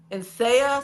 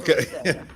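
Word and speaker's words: Nseya: In Saya Salon and Spa. Asaya? N is N-S-E-Y-A. The N is silent, but most clients still kept saying Insaya, but it's actually Saya.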